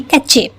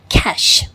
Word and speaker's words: cache: तो हम उसे यूजुअली जस्ट अल्फ़ाबेट्स को देखकर इस वर्ड को हम शायद पढ़ेंगे कैचे, है ना। लेकिन आप डिक्शनरी से जान सकेंगे कि इसका प्रोनाउंसिएशन कैची नहीं होगा, इसका प्रोनाउंसिएशन होगा कैश, कैश, ओके।